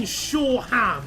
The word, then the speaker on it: Shoreham: What do you mean Shoreham? It's Shoreham. That's how I've always pronounced it.